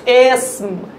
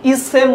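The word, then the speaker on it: اسم: আরেকটা জের, যেটা মুসাবওয়াতে কুতার চিহ্ন জের, আলেফ জের এ, এর উচ্চারণটা হচ্ছে এসম। আমরা ইসেম বলি, এটা ভুল করি, এটার উচ্চারণটা হবে এসম।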